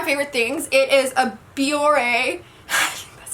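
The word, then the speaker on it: Bioré: It is a Biore. That's how you say it. God, I'm so bad at pronouncing things.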